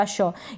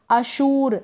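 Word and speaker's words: assure: आर जब आता है उस आर को हम प्रोनाउंस कर भी सकते हैं और ना भी करेंगे तो भी चलेगा। अश्योर, अश्योर का मतलब होता है भरोसा दिलाना या आश्वस्त करना, अश्योर। अब यहाँ पर ये जो मैंने लिखा है हिंदी में, इसको आप ऐसे करके ना पढ़ दें, अशूर ऐसे करके, अश्व नहीं, थोड़ा बहुत आपको प्रोनाउंसिएशन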